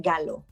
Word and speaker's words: Gallo: gallo bueno mi apellido es italiano entonces es galo en claro en latino américa yo estoy muy orgullosa de ser latina américa pero también estoy muy orgullosa de tener mi herencia italiana entonces se pronuncian galo a la morena galo